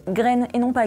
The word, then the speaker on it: Green: Et oui, pour info, son nom se prononce Green et non pas Green, car c'est un nom suédois et non pas anglo-saxon, battez-vous dans les commentaires.